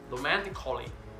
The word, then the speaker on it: romantically: The letter A can be silent, especially in words that end in A-L-L-Y. For example, romantically, romantically, musically, musically, logically, logically. So, cut the A out, get it off it.